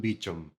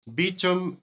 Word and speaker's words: Beauchamp: Aquí es donde entra George Beauchamp, que se escribe Beauchamp, que pues es un nombre en francés, pero yo supongo que por vivir en Estados Unidos o no sé qué rollo, lo pronunciaban Beecham. Beecham, él era un músico